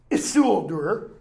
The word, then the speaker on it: Isildur: all comments, who's going to say, you're not pronouncing the name right. Isildur, okay?